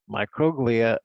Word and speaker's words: microglia: And that's how you pronounce those words: astrocyte, microglia, ependymal cells, oligodendrocytes, and Schwann cells.